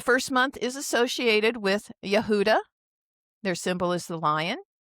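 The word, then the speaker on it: יהודה: The first month is associated with Yehudah. Their symbol is the lion. And there's the word the Hebrew spelling for Yehudah. We We refer to it as Judah. But the Hebrew pronunciation is Yehudah.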